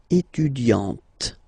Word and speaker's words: étudiante: Il est étudiant, okay, A-N-T, étudiant, okay, but then for the feminine form, elle est étudiante, okay, t, t, t, okay, you don't really insist on the E, but you insist quite much on the T.